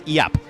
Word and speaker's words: Giap: Yeah, I think you don't say the G. I think it's Iap. At least that's what I learned.